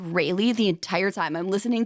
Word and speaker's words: Raleigh: And I'm like, all right, Kelsey, buckle up to say Raleigh, because that's the right way to say it. Even though my entire Really? life, everyone here in Cleveland area says Raleigh. Okay, we say Raleigh, North Carolina.